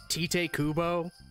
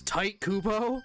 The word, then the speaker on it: Tite Kubo: set pronounce it as tite kubo because that's just what we thought it was when really his name is tight kubo it's like what the why is your name pronounced tight so we like made